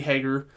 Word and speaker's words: Hager: So no, it's Hager. I pronounced it right when she came on, but then I like the HA.